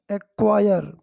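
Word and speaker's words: acquire: यहाँ पर सी और क्यू का प्रोनाउंसिएशन का हो रहा है, का, एक, है ना, क्वायर्ड। फिर आई आर ई, आई आर ई का क्या हो गया, आयर हो गया, आयर।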